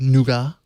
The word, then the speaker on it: Nougat: screen with in Android noua also do how do you say it nougat or noua I say nougat I still say nougat okay all right we'll